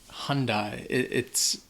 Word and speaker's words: Hyundai: Số 5 - Hyundai Hoặc như tôi nghĩ rất nhiều người Mỹ nói / Hundye / Và cái này, nó ... Hyundai hoặc Honda. Hyundai. Đây là một thương hiệu Hàn Quốc. Vì vậy, một lần nữa, nó có một cách phát âm rất khác nhau.